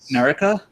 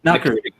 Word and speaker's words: Nakiri: Like Narika? Like it's Nakari. Nakiri. Right. But the way Japanese pronunciations, as far as I understand it, is that they don't are always said the same way.